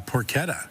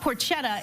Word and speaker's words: porchetta: We got legal lamb, but also today we're featuring our porquetta. Yes. Yeah. So, I said it wrong. So, it's not porchetta, it's porquetta. Porquetta. Okay.